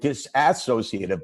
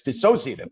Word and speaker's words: dissociative: Okay, you have to give me that, because I told you how nervous I was about calling it disassociative, but it's dissociative.